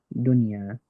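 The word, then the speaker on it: دنيا: and I'm going to pronounce the n component of the noon, but not the ghunna, not the nasal component of the noon. So it altogether goes dunya, dunya.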